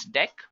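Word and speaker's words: deque: it is written as DQ but we can pronounce this as deck now talking about deck what actually it is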